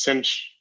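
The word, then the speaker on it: sinh: sine with an h i think sometimes it's pronounced cinch right so hyperbolic sine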